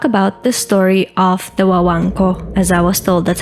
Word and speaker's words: Guaganco: I am very excited to talk about the story of the Wango, as I was told, that's how you say it.